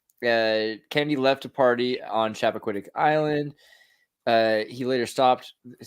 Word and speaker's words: Chappaquiddick: It's Chappaquiddick.